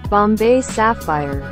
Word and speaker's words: Bombay Sapphire: Aunque la señorita de Google dice que se pronuncia Bombay Sapphire.